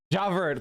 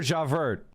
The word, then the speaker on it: Javert: God damn it, I can never, Javert, I can't pronounce French either. Javert, thank you, Jesus Christ.